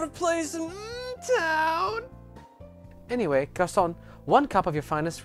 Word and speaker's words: garçon: Anyway, garçon, one cup of your finest red tea then. May I take this seat at the counter? I read that as Garcon! Garcon, I know, but it's pronounced you garçon.